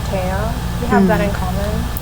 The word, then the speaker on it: Tea: By the way, for those who are listening, my name is spelled like tea, the drink, but you pronounce it as Taya, as in like Thea, but without the H.